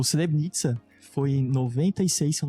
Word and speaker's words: Srebrenica: Srebrenica. Srebrenica. O C eles falam esse Srebrenica.